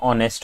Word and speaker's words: honest: The correct answer in this case is going to be he is an honest. Okay because uh because you know although the word is h but the pronunciation is honest which is o right.